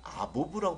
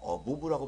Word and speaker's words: above: 보통은 발음을 할 때 이분들은 아보브라고 발음하시는 분도 있고 어보브라고 발음을 하시는 분도 있어요. 실제로는 어보브가 맞는 것 같습니다.